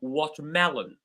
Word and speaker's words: watermelon: You will notice that the word mel, or the syllable mel, is the one that is receiving most of the stress. So watermelon, watermelon. Telephone, telephone.